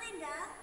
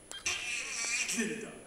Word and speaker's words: Glinda: It's gone, Linda. With a go. Well, yes, of course. Glinda.